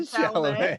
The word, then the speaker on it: Chalamet: Chalamet.